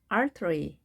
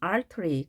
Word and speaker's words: artery: T가 양쪽에 몸이 있게 되면 약하게 발음이 됩니다. 그래서 자, 발음 기호 보시면 이 표시가 약하게 발음하라 라는 기호입니다. 그래서 영국식 발음이면 artery 그대로 해주시고 미국식일 때는 artery. T가 좀 더 약하게는 R 발음까지도 하죠. artery. 부드럽게 하시면 되겠습니다. 동맥이 되겠습니다.